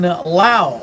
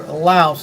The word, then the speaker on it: Laos: plane of jars in lao or laos as we say here in the united states but the proper way to say laos is lao with the s being silent uh and when i